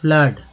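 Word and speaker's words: flood: अब यहाँ पर देखिए एफ L double O डी, फ्लड में डबल ओ का उच्चारण किस तरह से हो रहा है, तो आ हो रहा है, फ्लड, है ना।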